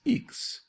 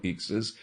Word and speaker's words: Ixe: Her name, rather peculiar, is Eeks. did you say? Yes, it is spelled IX E. Evelyn says it should be pronounced like in weeks, but we don't know whether it is a French or a German name.